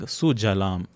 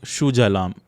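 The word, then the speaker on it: सुजलाम्: So it's not Shujalam. Bengalis, again, the composition itself being in Bengali, they own it, but they have this tendency of mixing up sa and sha also.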